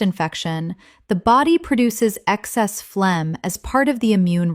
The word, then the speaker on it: phlegm: Common mispronunciation, phlegum. Correct pronunciation, phlegm. The g h is completely silent. This is just one syllable. Example, when you have a chest infection, the body produces excess phlegm as part of the immune response.